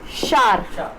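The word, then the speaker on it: sword: take शार शार कोई ववर नहीं होता है ये इट्स जस्ट शार ओके जैसे टावल बोलते हैं इसको ना टावल बोलते हैं इट्स टाल टावल इज टाल ववर इज शार गट इट दोनों की स्पेलिंग में ये डब्लू आ रहा है ना इट्स नॉट प्रोनाउंसड इसको प्रोनाउंस नहीं करना है आपको ना ये ओ को प्रोनाउंस करना है जस्ट शार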